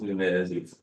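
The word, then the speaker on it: Nunes: trustee, Sharice Carney Nunez, although it's pronounced Nunez, it's spelled like noon. E-S. So take that Z out, put the S in, please.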